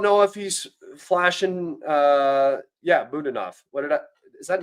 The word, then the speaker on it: Budanov: Budanov, emphasis on the second syllable.